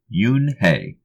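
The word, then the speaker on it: Unhei: it's spelled U and H II I it's pronounced Yoon hae oh it's you hey the boy said like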